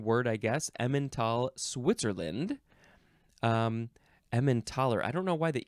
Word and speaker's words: Emmentaler: Next is emmentaler? No, emmentaler.